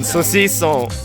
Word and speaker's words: saucisson: And this one, saucisson.